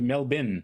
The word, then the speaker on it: Melbourne: like you look you look at Melbourne for example they pronounce it not Melbourne they pronounce it melbin melbin yes and Sydney did